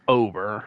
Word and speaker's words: Bailey Ober: I think it's pronounced Ober for the Pittsburgh Pirates.